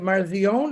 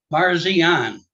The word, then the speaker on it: Parsian: say your last name is that marzion is that I pronounce it or I'm going to say it wrong so you just correct me please sir Parsian I was close yeah